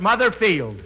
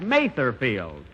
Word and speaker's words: Mather Field: Here it is, Mother's Day, and we're at Mother Field. That's Mather Field.